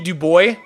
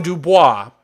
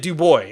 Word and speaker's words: Du Bois: Du Bois, and everybody calls him Dubois, but he pronounced it Du Bois, and he says, like, the way to say it is Du Bois.